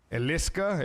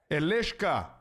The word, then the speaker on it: Elishka: Elishka. Yeah. It's a SH.